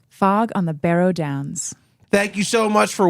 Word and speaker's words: Barrow Downs: Join us next week as we discuss chapter 8, which is called Fog on the Barrow Downs.